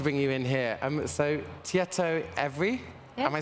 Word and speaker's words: Tietoevry: So, Tietoevry, Yeah. am I saying it right? Yeah, Terrible perfectly. with all the Nordic pronunciations.